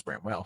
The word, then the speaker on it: Bramwell: And each time it was Bramwell.